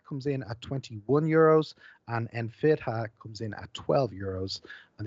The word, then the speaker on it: Enfidha: This is pronounced Enfidha.